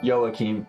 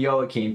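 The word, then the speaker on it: Joakim: It's pronounced Sarajevo and Joachim. Got it. Sarajevo and Joachim.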